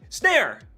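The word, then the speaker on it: Snare!: Snare is actually how you pronounce that, with the exclamation point.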